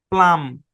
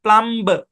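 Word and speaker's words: plumb: প্লাম, নট প্লাম্ব, এরকম না, প্লাম্ব এরকম না, প্লাম, বি সাইলেন্ট।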